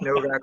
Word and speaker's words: Nowak: I always tell people, I said, well, if you can pronounce fajita instead of fajita, you can pronounce Novak with a V. So. Just if you see a Nowak, the way it's spelled for me, just remember it's like Dirk Nowitzki.